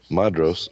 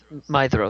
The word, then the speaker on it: Maedhros: Madros, oldest son of Feanor, is that how y'all pronounce that? Madros? Yeah. Madros? It's Mithros. That's right. DH is a Maedhros. TH. Maedhros. Mithros.